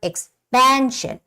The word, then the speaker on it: expansion: Same goes with the word expansion.